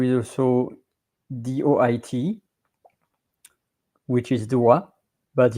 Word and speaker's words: doigt: So singular or plural, you pronounce it doigt. And you are writing it like this one, with or without an S, whether it's singular or plural. And it's DOIGT. And there is also DOIT,